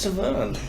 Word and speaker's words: Severn: How do you mispronounce Severn?